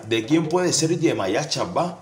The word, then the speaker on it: Ashaba: Lo primero que debemos saber es que Achabá se pronuncia Achabá.